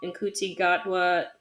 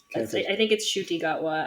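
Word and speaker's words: Ncuti Gatwa: Jodie Whittaker was the 13th Doctor, and Nkuti Gatwa, I totally pronounced that wrong. I think it's Shuti Gatwa, actually.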